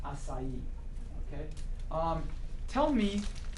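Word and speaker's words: açaí: you on on pronunciation but it's called It's pronounced acai okay um tell me how do you say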